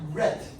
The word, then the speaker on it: ret: Now, the word reticular comes from the Latin ret. What does a ret do? A net. A net. Ret rhymes with net.